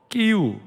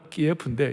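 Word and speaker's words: Київ: 수도 끼우, 전에 러시아식 발음은 키예프인데 이제 우리가 끼우로 하자고 그랬어요.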